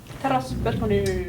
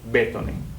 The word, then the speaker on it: Teräsbetoni: You say teräs. Teräs. Teräs. Can you say R? Yeah, that's I kind of have a problem with that. Teräs. Yes. Better. Betoni. Betoni. Betoni. Very, soft. B.